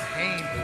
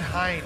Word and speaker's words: Hein: my good friend David Hayne break that point up David Hayne or David Hines David Hein excuse me my American pronunciation so that was in